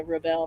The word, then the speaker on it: Rebelle: So you think of it as a rebel and a bell, like a Southern belle. So it's a Rebelle Rally.